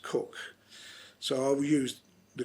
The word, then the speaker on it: Coke: Now I often pronounce it Coke, but it is pronounced Cook, so I will use the correct term Cook.